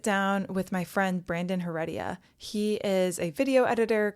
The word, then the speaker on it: Heredia: I actually don't know how to pronounce your last name. Heredia. Is that how you say it? Heredia.